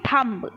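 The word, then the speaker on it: thumb: ठीक इसी तरीके से हम लिख बोलते हैं थंब क्या बोलते हैं थंब लेकिन बोलते नहीं सॉरी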